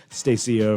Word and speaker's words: Stacia: The winner for this, I hope I pronounced this right, Stacia Fraser. Stacia. That's how you say it? Yeah.